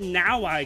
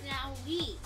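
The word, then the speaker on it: Nowi: As a matter of fact, if you start dressing like that Now-I character, you're in big trouble. Her name's pronounced Now-We.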